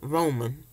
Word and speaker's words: ramen: They say, is that Roman noodles or ramen noodles? I'm like, it's just the way I pronounce it. I say Roman.